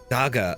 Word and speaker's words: Dage: D A G E. How to pronounce? Okay, let's let's find this. How to pronounce Daga.